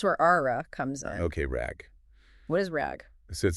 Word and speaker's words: RAG: that to Rag and it's pronounced just like the word rag okay rag got it